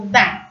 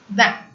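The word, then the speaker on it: vingt: So after the vowel sound, after the nasal sound, the last consonants remain the silent. So van. GT remains silent. So 20 is called as van.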